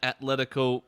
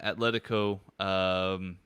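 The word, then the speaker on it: Atlético: Interesting rumors going around here about a potential Barcelona Atletico swap deal, perhaps.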